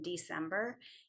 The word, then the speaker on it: December: It can say S in December.